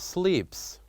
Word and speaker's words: sleeps: the first word is sleeps, sleeps. If you listen carefully to how I pronounce this, sleeps, sleeps. So the last sound I did say from this word matches this sound, sa, sa, sleeps, sa.